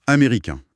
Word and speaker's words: américain: Prenons américain, au masculin. On s'arrête sur une voyelle nasale. L'air passe par le nez et le N à la fin n'est jamais prononcé. Il n'existe pas, auditivement parlant.